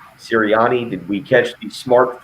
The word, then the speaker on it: Sirianni: How do you pronounce the new Eagles coach's last name? Sirianni.